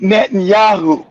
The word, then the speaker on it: Netanyahu: Be nice if you can pronounce his name. It's Net and Yahoo.